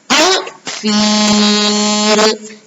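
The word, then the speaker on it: الفيل: Cara membacanya, alif lam dibaca dengan jelas atau terang, yaitu al-fil. Nah, itu disebut dengan bacaan alif lam atau al-qamariyah.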